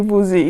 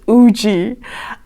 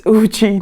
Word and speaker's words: Woozi: Miss pronounced woozie and it's not actually woozy it's Oogie I always look up the pronunciations of Korean names but the one time that I trusted my pronunciations it turns out it was wrong okay so it's ooji not woozy these pronunciations are going